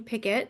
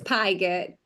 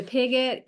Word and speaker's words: Pigat: Am I saying your last name right? That's how I say it in my head. It's Pyet. I'm totally saying it wrong. Pyet. Okay. I like that. Yeah, it's okay. I I answer to pigot.